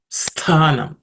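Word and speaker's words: स्थानम्: Yo vivikta sthanam. This tha, the tha there is the second letter in the tha varga, so it has to be aspirated.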